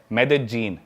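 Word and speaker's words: Medellín: Colombia एक country है south America continent में, उसकी एक सिटी है मेदेजीन। स्पेलिंग में उसमें डबल एल आता है, मेदेलीन होता है, लेकिन कोलंबियन स्पेनिश में ल को ज बोलते हैं, तो मेदेजीन वो शायद उसकी मेन सिटी है ना उस कंट्री।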